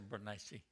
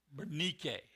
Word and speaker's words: Bernice: The pronunciation is Bernike. Bernike. Okay, that's a Greek pronunciation.